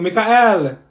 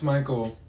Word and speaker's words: Michael: mean Beatrice thank you Mikhail ma'am it's Michael okay what about slow